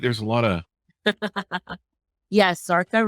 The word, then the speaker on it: Zarqa: a lot of yes sartha rhymes with parka there you go all